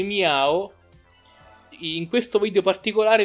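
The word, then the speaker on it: Mew: sparati per esempio meo famosissimo meo che dovrebbe pronunciarsi mia oh in questo video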